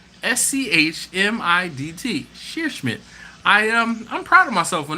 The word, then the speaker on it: Scheerschmidt: Sheer Smith. Nice. I just, it's SCHEERSCHMIDT. Sheer Schmidt. I'm proud of myself on that one. Speaking of proud of myself for pronouncing names, where is Luke Calamatis?